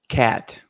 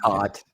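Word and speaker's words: Kaat: for the tiger lies oh Jim cat as we like to say actually pronounced cot his nickname is Kitty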